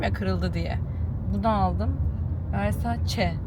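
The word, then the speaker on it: Versace: Versa çe Versa çe diye okunuyormuş. Ben Versaj Versaj deyip duruyordum.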